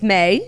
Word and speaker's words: May: It's May. She said it in the caption. It's pronounced M-A-Y.